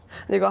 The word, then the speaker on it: MisuA Barbe: [MŨ LÔNG PIECES của MisuA Barbe] MisuA Barbe. [Phát âm là "Misu-Ah-Bar-Beu"] Đây là một thương hiệu Hàn Quốc.